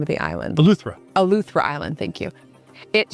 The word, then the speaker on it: Eleuthera: Eleuthera.